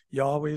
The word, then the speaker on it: Yahweh: by some is Jehovah the more correct pronun pronunciation is Yahweh it's the highest name of God the Lord